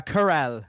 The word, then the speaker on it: Carell: Oh, Carell, it's pronounced.